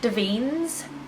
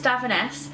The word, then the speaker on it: Davines: I'll start with the ones I'm most excited about, and it's Davines, which I recently pronounced Deans. That is wrong. Apparently, it's Davines.